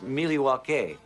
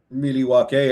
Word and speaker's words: Milwaukee: That's actually, it's pronounced Milwaukee, which is Algonquin for the good land. Milwaukee.